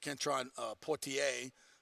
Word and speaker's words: Kentron Poitier: He's been nicked up a little bit, but Kentron Poitier, believe is how most of us pronounce his name.